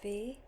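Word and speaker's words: Vy: everyone my name is V just like the letter V I know it spells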